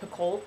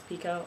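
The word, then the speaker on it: Picoult: Pico for a while I've always said jod pult but apparently it's Pico I don't like it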